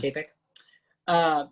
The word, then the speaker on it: Chapek: So the CEO, Bob Chapek, is that how you were pronouncing it? Yes. Chapek, said in an interview, quote, I would say